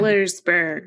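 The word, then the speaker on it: Sellersburg: it's in Ssburg which is in southern Sersburg. Sersburg because in other states they actually pronounce all the letters in their cities.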